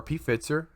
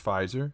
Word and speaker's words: Pfizer: the us market well it's pfizer or pfitzer however you want to pronounce it but it's pfizer as as they pronounce it but i know people call it p fitzer and molenda those two